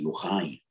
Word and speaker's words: Yochai: Ashkenazim say Yochai, but the Sfaradim say Yochai.